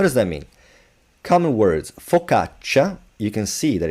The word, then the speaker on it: focaccia: CA, but this CA, this C is forced to be pronounced soft, so ch, by this I. It doesn't mean that you say focaccia, just focaccia, ca, cha. Again, here you have the double consonant, so it's not focaccia, focaccia.